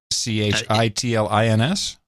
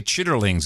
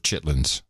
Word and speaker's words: chitterlings: see I spelling it CH ITL i ns tried CH i TT ER she says it spelled chitterlings and pronounced chitlins by Jove you're right but now I'm gonna say chitterlings instead of chitlins but don't do that